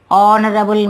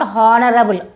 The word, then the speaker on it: honorable: Honest and honorable man. This is not honorable. Honorable. Okay? Honorable man.